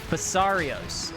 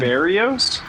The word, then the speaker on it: Basarios: Basarios. Is that not what I said? No, Is you it said Barrios? Oh yeah, I missed a syllable there, didn't I?